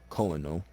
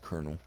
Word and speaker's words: colonel: people get this word wrong they call it colonel it's pronounced colonel okay it's 23k this rank right here is